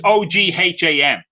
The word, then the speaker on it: Ogham: So this is Ogham, and it's Ogham. You don't pronounce the G.